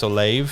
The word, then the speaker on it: Olave: 18, the Saints picking up Chris Olave. Is that how you pronounce that?